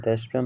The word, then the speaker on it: দেশপ্রেম: আচ্ছা দুই নাম্বার প্রশ্ন ছিল দেশপ্রেম শব্দটির সঠিক উচ্চারণ কোনটি? তো দেশপ্রেম শব্দটির সঠিক উচ্চারণ হচ্ছে দেশ প্রেম।